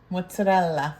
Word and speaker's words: mozzarella: Mozzarella. Okay. It's not mozzarella. It's because a lot of people say mozzarella. There's an A at the end of it.